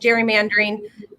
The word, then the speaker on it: gerrymandering: oregon legislature dot gov slash redistricting yep and you can still sign up and you know as we're talking about talking about gerrymandering did i do that right yep that's correct